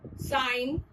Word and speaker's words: sign: G is silent whenever it is used before N. Example, nat, sign, design, sing, hang.